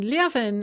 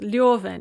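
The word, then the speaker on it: Левин: ends up married to constantine lieven uh or sometimes it's pronounced leoven it's not clear which way it should be leave enough and constantine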